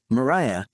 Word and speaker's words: Mariah: remember my name so I didn't want to always have to explain oh Mariah this is how you pronounce it because back then nobody